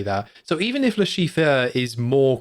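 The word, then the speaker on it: Le Chiffre: were pronouncing it is Lashifur." Uh, but they just I then was like, "No, it's Lashif."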